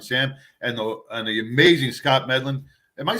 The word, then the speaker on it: Medlin: Hey, welcome back to a Badge of Honor podcast with John and Sam and the amazing Scott Medlin.